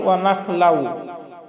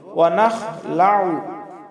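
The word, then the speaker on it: ونخلع: আমরা অনেকেই পাঠ করি ওয়া নাখলাউ। এই যে আইন আছে, আইনকে আমরা হামজা বানিয়ে ফেলি, ওয়া নাখলাউ বলি, আসলে ওয়া নাখলাউ হবে না, আইন গলার মধ্য থেকে আমরা উচ্চারণ করে বলবো ওয়া নাখলাউ।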